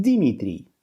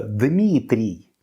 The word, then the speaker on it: Дмитрий: Испанцам сложно произносить 2 согласных звука «дм» подряд, и оно превращается у них в «Димитрий».